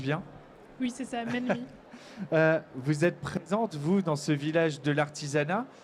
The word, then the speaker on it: Mensmi: Je le prononce bien? Oui, c'est ça, Menmi.